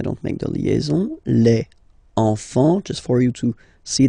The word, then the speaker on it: enfants: Don't pronounce the T, you don't pronounce the S.